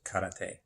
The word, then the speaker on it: karate: How it is properly pronounced is karate. Karate, meaning kara and te.